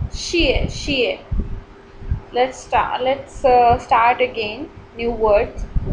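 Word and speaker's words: 谢谢: Next word is xie, xie. E has fourth tone. Xie, xie. So its pronunciation is a bit strict. Xie, xie.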